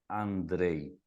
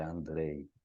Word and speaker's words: Andrej: Me acham como vasl Andrei é o contrário primeiro sobrenome lembrem-se Andrei escreve com J e pronuncia como I né não é Andre é Andrei então no Instagram sou Andrei tudo junto no no